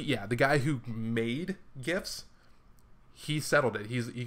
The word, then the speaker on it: GIF: Um, it's GIF, and it has been settled by the guy who made GIFs. It's not GIF because it's not spelled with a J. It's GIF because it's spelled with a G.